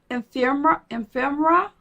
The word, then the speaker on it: ephemera: Do you know whenever you try to pronounce a word that has E-P-H in it, you kind of stumble over it? Ephemera. Yes, ephemera. It's beautiful.